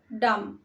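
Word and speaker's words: dumb: বোবা বোবার ইংলিশ হয় ডাম ডাম এখানে শেষে বির উচ্চারণ হয় না বিটা সাইলেন্ট থাকবে হিজা ডাম ছেলেটি বোবা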